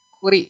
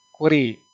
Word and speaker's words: Curie: CI itu dibacanya jangan CI ya. Nah, kenapa saya ngomong CI? Supaya nanti saya menjelaskan. CI itu Curie ya. Curie.